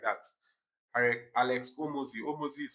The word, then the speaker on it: Hormozi: I Alex Hormozi. Hormozi is spelled H O R M O Z I Z I.